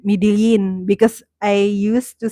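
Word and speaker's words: Medellín: also a place called Medellin. In Colombia, it's Medellin, and they say Medellin, Medellin. But here in Cebu, we say Medellin, so it's like kind of different. It's just the same spelling.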